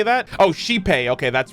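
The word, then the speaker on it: Xipe: of penaconi and the planet sought Refuge under saipei the harmony I think that's how you say that oh shipei okay that's right that's how you pronounce it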